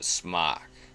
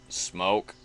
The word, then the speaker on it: Smok: I pronounce it Smok. Maybe it's just smoke without the E, but I don't know.